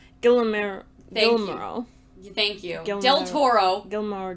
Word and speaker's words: Guillermo: Then, Gilmore, I can't ever say his name. Guillermo.